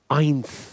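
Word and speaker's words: eins: 1, आइंस, इसको हम बार बार pronounce करेंगे, आइंस आइंस आइंस।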